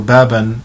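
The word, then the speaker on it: باب: We do not say baba, we do not say babu, we do not say babi, we say bab.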